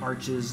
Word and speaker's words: Arches: of the cool rock formations are in, like, Arches National Park.